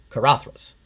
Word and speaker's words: Caradhras: So the proper pronunciation of Karathas is just that Karathas.